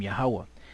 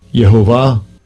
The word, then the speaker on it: YAHAWAH: yahawah all right that's the most High's name yahwah now check this out here they have a pronunciation here right now I want to show